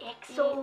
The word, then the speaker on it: EXO: And it's spelled EXO. That's right. And they go like EXO.